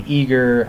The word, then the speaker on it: Aegir: Aegir is one of those typical open source projects that suffers from the pronunciation problem. How do I say Aegir? Some people say Aegir, Aegir.